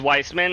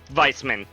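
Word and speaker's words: Weissmann: The Faceless was Weissman. Okay. Or vicemen, if we want to be pronouncing things correctly. Stupid Germans with their W's that sound like V's and fricker rigger.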